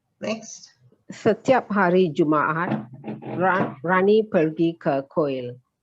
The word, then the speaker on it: Jumaat: ka sound so kamis juma there's two a's here so you pronounce both a's saktu saturday and ahad